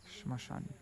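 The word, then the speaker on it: শ্মশান: But smashan, but in Bengali, if there's two characters like that next to each other, like two consonants next to each other like that, then lots of times it's not pronounced the ma.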